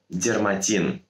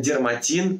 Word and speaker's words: дерматин: терроризм только одну букву третье слово дермантин zara дермантин часто вставляют хеш не букву н произнося на как дермантин слово образовано от греческого корня дермо что означает кожа и соответственно дерматин это искусственная кожа запоминаю буквы н там нет четвертое слово прецедент также